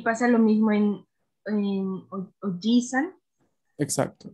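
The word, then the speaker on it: おじいさん: Y pasa lo mismo en Ojisan. Exacto. Es la I la que le dedicamos un espacio más de pronunciación respecto a la normalidad.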